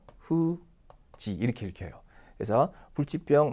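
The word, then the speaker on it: 不治: 그때는 또 후지 이렇게 읽혀요. 그래서 불치병 뭐 참고로 한번 알아두십시오. 이 병도 여러분 묘기라는 단어만 기억하지 마시고요. 혼자 쓰면 이렇게 야마이라고 읽습니다. 그래서 후지노 야마이 하게 되면 이것이 이제 불치병이라는 의미의 단어가 됩니다.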